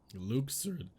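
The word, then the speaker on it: Luxord: is who are you Luke surd Luke sir so that's how you pronounce it I don't think I've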